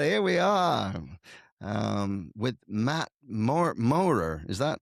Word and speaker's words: Maurer: All right, here we are with Mat Maurer. Is that how you say it? Maurer, yeah.